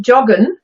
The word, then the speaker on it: joggen: straight away, joggen, yeah, we kept the English pronunciation of the letter J, but we have Germanized it and got rid of the ing and put the German en, just like German verbs always are.